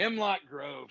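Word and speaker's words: Himmelgrove: it's not himl GR himl Grove thank you two words here we go yep two syllables though you know it throws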